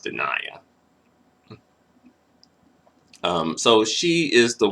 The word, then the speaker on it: De'Naia: into it though so his wife dania i believe is pronounced denia um so she is